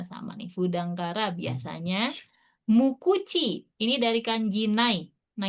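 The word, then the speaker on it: 無口: Mukuchi. Ini dari kanji nai. Nah, itu nggak ada kan? Nggak ada mulut. Sama So, kuchi. nah, jadi kanji nai sama kuchi artinya dia dibacanya mukuchi. Mukuchi itu pendiam ya.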